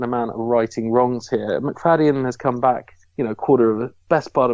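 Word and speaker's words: Macfadyen: How do you pronounce that? I'm sorry, McFadden. It's McFadden. McFadden.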